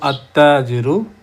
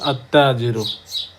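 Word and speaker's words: التاجر: যে আমি একটু যদি উদাহরণ দিয়ে বোঝানোর চেষ্টা করি, আলিফ লাম তাজিরু, তাজিরু, যেহেতু লামটা উচ্চারিত হচ্ছে না, লাম তার সুকুনটা তাকে গিফট করেছে, সেক্ষেত্রে আমরা বলবো আত্তাজিরু, দুইটা তা হয়ে গেল, সেক্ষেত্রে উচ্চারিত হবে আত্তাজিরু।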